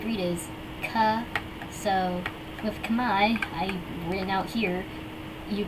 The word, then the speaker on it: Khmer: So like Khmer, so that's why, and then the R is just silent at the end. You don't say the R.